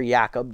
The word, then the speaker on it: Jacob: for us will be rookie jackob Jacob or yakob depending on how you pronounce it friendly one and0